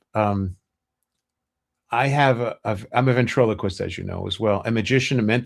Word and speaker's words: ventriloquist: No, they a lot of people say ventricleist. Ventric. Yeah. Ventriloquist. Yeah. Fish.